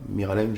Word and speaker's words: Miralem: ami Miralem Pjanic ça Miralem j'ai bien prononcé très bien mir VO bien mais